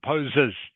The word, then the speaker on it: poses: Poses. Poses. Good. Okay, needs to be poses. Okay, not pose. You must pronounce the S on the end of that word.